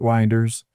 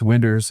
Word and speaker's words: Winders: Winders is the name of uh this main character, not Winders. It's Winders. It rhymes with Cinders.